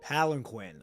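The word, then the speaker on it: palanquin: Palenquinn. Okay, that's how you pronounce it.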